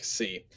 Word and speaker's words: xi: of complicated is the c he puts here the x in axiom so it's sort of a blend together of those two sounds so from you you